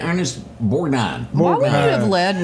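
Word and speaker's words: Borgnine: sheriff that was chasing the rubber duck Ernest Borstein Bor how you say his name Ernest borine why would you have led with Convoy what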